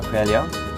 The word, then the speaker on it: Coelho: Now the church was built in 1521 by Eduardo Coelho. Is that pronounced correctly?